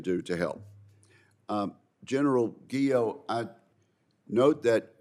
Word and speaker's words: Guo: to help um General guo I note that your name rhymes with hero is that right yeah yes Senator it does okay good well we we